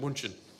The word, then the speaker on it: München: in Munich, which is in German it's pronounced München.